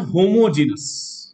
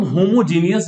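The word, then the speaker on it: homogeneous: एक होता है होमोजीनस, जिसको हम होमोजीनियस भी प्रोनाउंस करते हैं।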